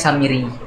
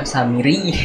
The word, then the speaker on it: Samiri: sering salah kalau ngaji Saya biasanya bacanya samiri tapi disuruh samiri i itu agak familiar